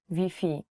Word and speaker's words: Wi-Fi: spelling is the same you have to change wi-fi to vp so if you're looking